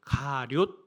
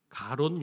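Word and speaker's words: 가룟: 그런데 많은 분들이 이름은 들어 많이 들어 보셨지만 가료 유다잖아요. 가론 유다가 아니고 가료 뭐 발음도 참 어려운데이 사람의 이름은 사실은 유다입니다.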